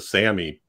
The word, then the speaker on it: Sami: place in uh amongst the Sami people s-a-m-i and it's pronounced that way uh they were at